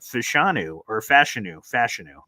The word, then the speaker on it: Fashanu: Like, the thing I feel good about is that Fashanu, that's how you pronounce it.